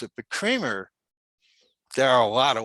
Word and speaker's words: Kremer: But it's actually German, so it's Kremer. The E is like an A, long A.